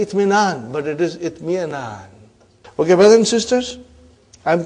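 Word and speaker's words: اطمئنان: So when you say itminan, sometimes you are eating away Hamza. You are too hungry. Okay? So what will be? Itmi'anan. Got the idea? You don't pronounce that way. You always eat your Hamza.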